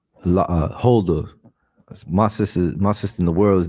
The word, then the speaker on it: Huldah: Her name is Huldah, right? Her name is Huldah. Salakia, can you get me the meaning of Huldah, Baba Kashar? Khan, you said Hilda? Huldah.